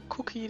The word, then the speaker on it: Kukki: Ganz links sieht man Cookie, den Hauptcharakter, also den Hauptcharakter quasi, der schon von Anfang an immer die größte Rolle gespielt hat. Genau, und Cookie ist quasi sein Spitzname und schreibt man K-U-K-K-I.